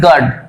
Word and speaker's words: guard: জি বাদ দিলাম, GARD গার্ড, একই তো হচ্ছে, অর্থাৎ ইউ থাকলেও গার্ড, ইউ না থাকলেও গার্ড, তাই কিন্তু দেখো এখানে ইউ উচ্চারিত হচ্ছে না, গার্ড।